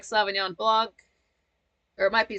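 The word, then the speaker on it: Sauvignon Blanc: that Alisa I like Savon Blan or it might be savan blond you don't pronounce the C but I just don't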